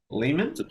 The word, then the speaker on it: Lehman: the the Lehman trilogy I think that's how you pronounce it l-e-h-m-a-n Layman Layman apparently it's about the